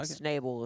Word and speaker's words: Schnable: Is that the correct? That is the correct way to say it. Snable is the correct way to say it.